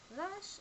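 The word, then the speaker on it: ריש: in newu and the last letter is R rash is not pronounced like the English R it is more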